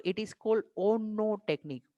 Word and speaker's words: ONNO: तो इट is called ओनो technique. ONNO इसको pronounce करेंगे तो इट विल बी ओनो.